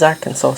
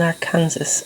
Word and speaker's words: Arkansas: reading years ago that at some point in history the people in Ar- Arkansas had actually passed a law to say that you had to pronounce it as Arkansas.